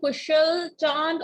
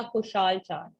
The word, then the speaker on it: Kushal Chand: Are you Kushal Chand or a Kushal Chand? थोड़ा माजरत के साथ कि शायद मैं आपका नाम गलत प्रोनाउंस कर रही हूँ। आर यू या खुशाल चांद? प्लीज प्लीज बताइए what is language? I'm Kushal Chand.